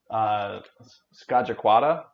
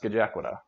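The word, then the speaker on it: Scajaquada: So some of you guys might have gotten it close, but yeah, I thought that it was pronounced Skajakwada, but it's pronounced Skajakwada, which is not too different, but still, I was like, what?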